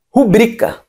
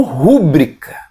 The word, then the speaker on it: rubrica: E não rúbrica. Muitos acham que essa palavra é proparoxítona, ou seja, de trás para frente é a terceira sílaba mais forte. Não. Essa palavra, apesar da sua pronúncia por muitas vezes estar incorreta, muita gente fala em rúbrica, o certo é rubrica. Logo, é uma palavra paroxítona. A sílaba mais forte é bri.